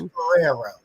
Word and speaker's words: Guerrero: I have trouble pronouncing things. It's Guerrero.